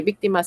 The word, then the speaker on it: víctimas: Víctimas. ¿Dónde tiene la mayor fuerza de voz? En la penúltima. En la antepenúltima. En la antepenúltima. Por lo tanto, es esdrújula. Y si es esdrújula, lleva tilde sí o sí.